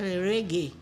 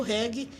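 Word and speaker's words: reggae: pronúncia Nativa uma de a palavra não é a palavra reg mas no Brasil na pronúncia baiana e na pronúncia de Gilberto Gil ficou reg e até hoje nós cantamos reg como houve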